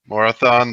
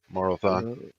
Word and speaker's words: Morophon: Morophon. Morathon. He's a. Why am I not? MORO PHON. PH. Paul. I thought it was Morathon with a TH.